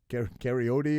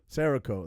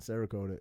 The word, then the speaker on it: Cerakote: to the guns oh my oh uh uh karyote or karaoke okay karaoke whatever it's called sarah i forget how's it pronounced cerakote that's it cerakote yeah that's what you're talking about yeah yeah